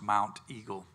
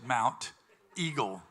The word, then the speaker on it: Monteagle: uh but it's pronounced Mount Eagle not Mount Eagle it's Mount Eagle eag move your hyp your what what do you call that the t is not silent cuz it's mount on the end but then it's Eagle